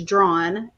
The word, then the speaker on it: Draughon: And the thing is, I get it because my maiden name is Drawn, but it's spelled Draughon. So it's like you only say the first two and the last two.